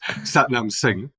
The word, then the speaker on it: Satnam Singh: my name properly so so the way that I I pronounce it is satam sing as a seek Indian name and I think if you got like a a proper seek Indian they would say it a little bit differently but I think for